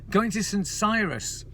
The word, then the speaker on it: St Cyrus: What I could do though, what I thought about doing today was going to St Cyrus, because that rhymes with virus, and I was going to do some sort of poem thing about St Cyrus at the fire.